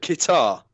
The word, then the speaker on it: Qatar: well you boil it Qatar it's right as it rhymes with guitar yeah it's Qatar Oh